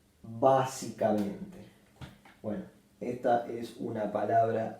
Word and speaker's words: básicamente: otra sílaba más y se acentúa en esta sílaba básicamente bueno Esta es una